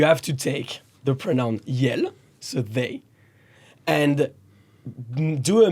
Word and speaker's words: iel: Okay, so the French language created a pronoun called yel. Yel. Okay. Okay. IEL. E-L. I-E-L.